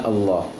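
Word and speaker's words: الله: Kemudian ayat kedua, kembali kalimat Allah, bismillahi. Kalau Al-Quran Timur Tengah memang tulisan Allah akan selama-lamanya pendek lamnya, namun dalam membacanya harus dipanjangkan karena udah kebiasaan orang Arab dalam pengucapannya, billah, bismillahi.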